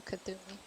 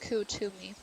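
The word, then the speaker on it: Kuthumi: I'm going to read you Kathumi. Oh, it's pronounced Kutumi.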